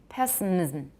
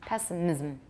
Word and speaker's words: pessimism: thus words such as pessimism mysticism may be said to have three or four syllables depending on whether the final limb is considered to be syllabic pessimism it has to be an extra syllable for me pessimism it's too awkward